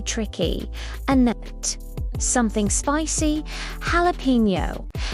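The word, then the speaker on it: jalapeño: Jalapeno. Jalapeno. The J sounds like an H. Jalapeno.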